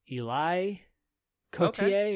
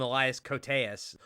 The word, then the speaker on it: Elias Koteas: I always get this guy's name wrong because I believe it's not Elias. I think it's like Eli Koteas or not gonna work here anymore. I always call him Elias Koteas, or I always call